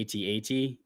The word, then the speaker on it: AT-AT: So they asked him, like, what's the proper pronunciation, and he said it can be AT-AT, at or Walker.